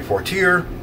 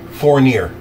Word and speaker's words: Fournier: minute mile but Henry Fortier was the Festus oh excuse me four near not fourth year four near f-o-u-r -n-i-e-r sorry mispronunciation on my part because I'm stupid but